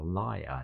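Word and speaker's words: lavalier: a wireless Lal microphone I think that's how you pronounce it l v a l i e ER liar l l and um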